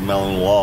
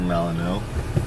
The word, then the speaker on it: Malinois: All right, Ryan and I are going to look at a Belgian Malinois. Malinois. How do you say it? We've basically heard it Malinois or Malinois or Belgian Shepherd.